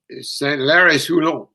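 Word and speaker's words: Saint-Lary-Soulan: I'm shocking with my French pronunciation. How do you say that final climb? Saint-Lary-Soulon, Col de Potet.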